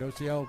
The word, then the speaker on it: Ociel: I'm not sorry, not Ozil, Ociel. Is that Ociel? How do you pronounce it? Ociel.